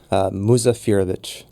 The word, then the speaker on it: Muzafirović: Will you do me a favor and pronounce it for me? Sure. So I guess. Muzafirović.